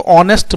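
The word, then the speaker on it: honest: है एन ऑनेस्ट मैन ऑनेस्ट H silent है तो इसलिए इसको ऑनेस्ट बोलते हैं क्योंकि अ अ साउंड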